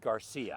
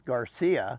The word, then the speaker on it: Garcia: the other day and he says no that's not how they say it on the Milwaukee because I said it the other way no that is how they say it under Milwaukee and most people I said Garcia yeah most people assume it as Garcia but it's Garcia and that funny made